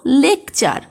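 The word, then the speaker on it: lecture: শব্দে টি থাকলে টি এর পরে যদি ইউ থাকে তাহলে টি এর উচ্চারণ চয়ের মতো হয়। এক্সাম্পল দেখো লেকচার, সেঞ্চুরি, ফার্নিচার ইত্যাদি।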